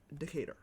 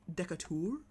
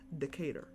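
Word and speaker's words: Decatur: that she cannot pronounce Decator. Once again, it's spelled correctly. It's spelled like that way, but it is not pronounced that way.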